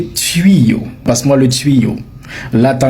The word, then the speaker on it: tuyau: Beaucoup de gens disent tu en réalité on dit tuyo comme dans nuit comme dans puit. OK. On dit tuyo et non pas tuyo. Donc désormais aujourd'hui, tu vas prononcer le mot correctement. Tu ne vas plus dire tuyo, tu vas prononcer le mot tuyo comme si tu prononçais le mot nuit ou encore le mot pui.